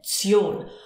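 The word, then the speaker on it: -tion: Zion. Watch out here with the pronunciation. When we have tion, we don't actually say tion, we say zion. So it sounds like a tsion, zion.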